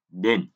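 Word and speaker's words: 田: Âm ông Yomi thì ta đọc là Den. Âm cưng Yomi, cưng reading thì chúng ta đọc là Ta và Da.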